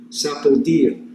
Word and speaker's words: sapodilla: had sapodia it's spelled s-a-p-o-d-i-l-l-a or sapodilla sapodia is the way it would be pronounced I believe in Spanish here are a couple